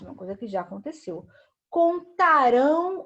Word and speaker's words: contarão: Ó, é isso aqui, o nasal é o som que sai pelo nariz, tá? Então, vai ser exatamente nessa finalização aqui, ó, do AM no final aqui e do AOTIL aqui no cantarão, tá?